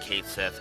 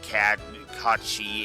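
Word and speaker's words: Cait Sith: let's explain myself and yes I pronounce it Kate Seth if they pronounce it cat CI in in rebirth I will try to adjust my pronunciation accordingly for now the character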